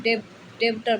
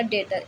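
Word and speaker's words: debtor: ऐसे ही डाउट और डेटर, जिसे हम डेब्टर बताते हैं, डेब्टर, ये पढ़ा जाएगा डेटर। इसमें बी क्या रहेगा, साइलेंट।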